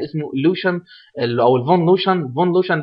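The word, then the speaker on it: von Luschan: فون لوشن ده يمكن النطق ده الماني هو اسمه كده.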